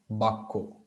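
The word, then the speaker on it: vākya: Usually the word vakya refers to any phrase or sentence, but here the word vakya, in Bengali they would say it like bakko.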